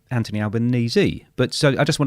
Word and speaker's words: Anthony Albanese: And it rhymes with sneeze. And I go, no, it doesn't. It's Anthony Albanese.